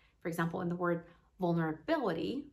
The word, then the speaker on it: vulnerability: example in the word vulnerability the stress is on the fourth syllable right it is so